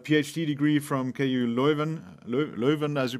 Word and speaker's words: Leuven: obtained his uh phd degree from ku leuven leuven as you pronounce it in electrical engineering and he's a